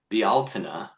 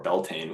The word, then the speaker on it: Bealtaine: At the time of Bealtaine, which I only recently learned is the proper pronunciation for Beltane, which is how a lot of people from where I'm from say it.